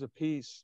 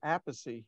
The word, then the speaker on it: Appice: and go hey god carmine says a piece but i say apathy he goes and i